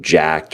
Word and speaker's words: Jack3d: they've run into with jacked or jack3d or obviously it's jack is how they want to pronounce but a lot of people say Jack's releasing on dogma and